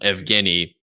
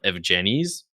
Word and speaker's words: Evgeny: I am eternally amused that my real name, Evgeny, is mispronounced with a soft G a lot of the time, so I get a lot of Evgenies.